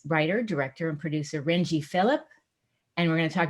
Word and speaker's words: Philip: You said it is Philip, right? Not Philippe? It is Philip, yes.